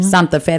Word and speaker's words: Santa Fe: Santa Fe. That's a correct way to say Santa Fe.